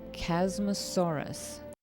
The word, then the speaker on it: Chasmosaurus: Baby Chasmosaurus, pronounced Chasmosaurus.